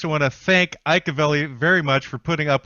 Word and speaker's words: Avelli: That's Avelli with two L's. So don't pronounce it the Mexican way, everybody, or you'll wind up in the wrong spot.